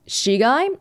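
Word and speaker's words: 死骸: In Japanese, that would be pronounced shigai, and it means corpse, and that's what was displayed in the kanji in the middle there too.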